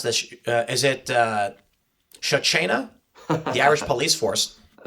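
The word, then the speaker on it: Garda Síochána: Is it uh Sha China? The Irish Police Force. That's kind of funny. I've never heard somebody actually pronounce It's the Ongard Shia.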